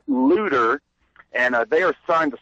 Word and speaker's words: Luder: Yeah, and folks should know that Looter is spelled L-U-D-E-R. It's not like looter, like someone who steals during a riot.